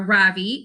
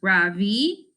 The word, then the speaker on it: Ravi: How do you like Einstein so far, Ravi? Asked Dylan. Actually, it's pronounced Ravi, I say.